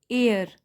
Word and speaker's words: heir: देखिए क्योंकि ये साइलेंट है और एयर, तो साउंड आना चाहिए वावल का, जहाँ भी वावल साउंड होता है वहाँ उसके आगे हम एन लगाते हैं।